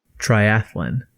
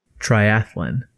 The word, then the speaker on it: triathlon: that's just almost painful triathlon triathlon really uh the empathetic a in triathlon is really so ordinary it ought to be unremarkable it's certainly not as